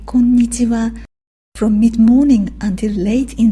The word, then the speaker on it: こんにちは: You could say こんにちは from mid-morning until late in the afternoon. But be careful with the rhythm. It is こんにちは 5 syllables.